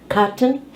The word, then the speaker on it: cotton: Let's have the TN sound where we have the glottal stop.